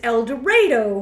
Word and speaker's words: El Dorado: a d o but Ryder has said that no one in that part of Illinois has ever ever once called El Dorado this is eloro eloro that's how they say it but you know what